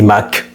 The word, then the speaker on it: Mach: Donc j'avais fait un short où j'avais parlé du Mach, où je disais match. Bon, étant donné que j'ai étudié un livre, la prononciation était un peu erronée. Je n'ai pas supprimé, mais je remercie quand même la personne qui m'a fait comprendre que on dit Mach, si évidemment elle suit cette vidéo.